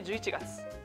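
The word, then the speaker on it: November: 重要なのは「v」の部分です。「v」の発音をするには、上の前歯で下唇を軽く押さえます。ボタンを押しながら、「v」の音を発音してください。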